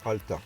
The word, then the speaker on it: Alta: Alors ça s'écrit Alta et ça se prononce Alta. Pour une fois, c'est facile.